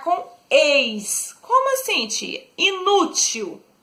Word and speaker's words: inútil: Inútil. Inútil é uma palavra paroxítona.